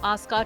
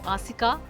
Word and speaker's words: Asika: Odisha announced plans to correct the English spelling of Aska town to Asika, aligning with its original Odia pronunciation.